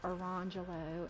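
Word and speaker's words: Orangejello: and la mangelo and it is spelled like orange jello and lemon jello but they're not but she wants them pronounced arangelo and lamangelo yeah and i'm like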